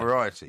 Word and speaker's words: Moriarty: Moriarty. Moriarty, yeah, the same guy. Doesn't rhyme with variety.